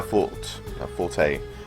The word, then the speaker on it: forte: I mean, ferocity is our forte. I think it's technically pronounced fort, but forte is just how people say it now.